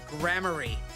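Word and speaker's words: Gramarye: I'm gonna stick with Grammarier. It sounds more, I don't know, mysterious? How did you say it was pronounced? Apparently it's pronounced grammary.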